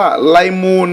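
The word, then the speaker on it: ليمون: มะนาว คือ คำ ว่า ไลมูน นะ ครับ ออก เสียง คล้าย ๆ ภาษา อังกฤษ เลย นะ ครับ เลมอน ไมูน น่ะ อืม อ่าน ตาม พี่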